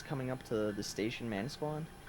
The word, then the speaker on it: Manasquan: up to the station Manasquan he mispronounced it like four different times guys I'm not joking you you said it like three different ways it was so funny he's like man askins next um - Quan and